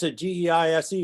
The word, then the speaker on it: Geise: Geise, G-E-I-S-E, is pronounced Geise. If it was G-I-E-S-E-B, Geese.